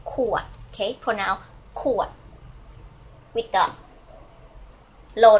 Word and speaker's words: ขวด: So the bottle in Thai we say ขวด, okay? Pronoun ขวดwith the low tone ขวดขอไข่ okay can you see this ขอไข่ and then ขวด and the ขวด so can I have one